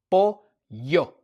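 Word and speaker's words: pollo: Every time you have two L's together, you must say ya or yo or whatever it might be. Like chicken for example is po yo. P O L L O.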